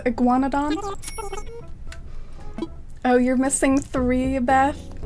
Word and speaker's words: Iguanodon: pronounce it super well it's like Iguanodon like it's kind of reminds me of iguana is how it starts Iguanodon oh you're missing three